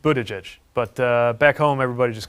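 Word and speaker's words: Buttigieg: how to pronounce your last name sure it's pronounced Budaj but back home everybody just calls me Pete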